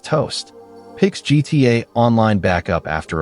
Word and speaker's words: t0st: Early 2021, a programmer who goes by the handle T0 SD, pronounced toast, picks GTA online backup after a break.